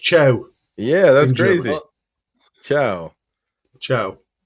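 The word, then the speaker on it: Thiaw: but no by the way apparently theor is pronounced cha yeah that's crazy CIA CIA Malik Chia so there you go wow one that's interesting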